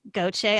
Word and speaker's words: Gauthier: clarence levy and gautier i pronounced that correctly right okay i'm from louisiana so i know how to pronounce these french names and clarence and